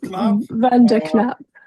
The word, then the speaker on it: van der Knaap: It's actually Verap. So, pretty good. Vanap I used to